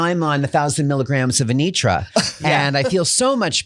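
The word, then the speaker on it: Anetra: We were saying Anerta. No, it's Anitra. Anitra. Sugar I- and Spice. I was on Celebrex, but now I'm on 1,000 milligrams of Anitra, and I feel so much better.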